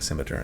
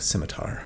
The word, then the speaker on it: scimitar: Some people give me a hard time about saying scimitar instead of scimitar. Look up a pronunciation guide and you'll see that both are viable.